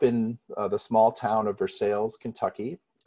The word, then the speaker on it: Versailles: the small town of versailles kentucky pronounced spelled like versailles france but pronounced for sales we kentucky iced it